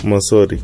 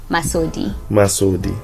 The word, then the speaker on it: Masodi: Let's go to Masodi, right? That's how you pronounce it, right? Masodi.